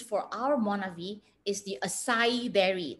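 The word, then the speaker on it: açaí: our monavie is the acai berry the a c a i is pronounced as acai berry but not just the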